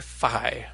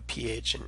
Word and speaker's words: phi: So it's that pi, that p sound, with an h after it, and originally would have sounded a little bit like p, as in uphill, so you'd hear both sounds distinctly. But nowadays we tend to pronounce it like a letter f, just the way we do a ph in English, and this is the way the modern Greeks pronounce it as well. So it sounds as in phony.